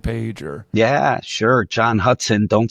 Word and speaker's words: Hutson: John Hutson. Don't spell it wrong. It's not like the river. It's Hutson.